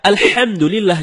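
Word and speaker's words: الحمد لله: ketika membaca alhamdulillahirobbilalamin HD membaca alhamdulillah tidak menggunakan hak dalam kerongkongan kalau kita membaca alhamdulillah dengan head dalam kerongkongan ya artinya segala puji bagi Allah dan sebaliknya kalau kita baca alhamdulillah alhamdulillah bukan tenggorokan maka artinya segala kematian jauh berbeda begitu juga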